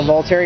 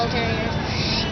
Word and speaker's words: Volturi: Well, sort of, kind of at the end when the Volturi, what is it called again? I can't really pronounce their name. The Volturi, you're saying it right. The Volturi.